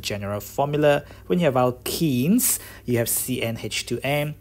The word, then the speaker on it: alkene: When you have alkenes, you have CnH2n. How we differentiate between them? Is this in the name? Actually, the name is wrong there. It should have been alkane, not alkenes.